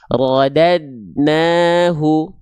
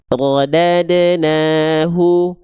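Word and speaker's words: رَدَدْنَاهُ: Di sini kesalahan pertama adalah banyak orang melafalkan tanpa adanya betul-betul pantulan. Contoh rodadnahu ah enggak bisa rodadnahu bisa, tapi enggak sempurna. Makanya karena dalnya di sini dalam kondisi sukun dipantulkan. Contoh, rodadnahu, rodadnahu, rodadna gitu.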